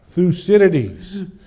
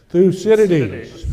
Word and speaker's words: Thucydides: You know, the Thucydides trap that people talk about. Thucydides trap. Thucydides trap. Okay, so how do you say this fellow's name? Thucydides. So let's see if you can say that. Thucydides.